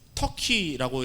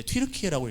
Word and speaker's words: 튀르키예: 여러분 지금 터키라고 옛날에 읽었는데 요즘에 이제 튀르키예라고 읽거든요.